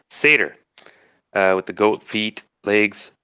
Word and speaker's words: satyr: caused a lot of trouble gregarious is a sitar how do you say it sooner say dirt-eater ah thank you I knew I had it wrong satyr with the goat feet legs and playing the